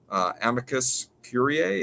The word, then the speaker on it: amicus curiae: Amicus curiae. Is that how you pronounce that?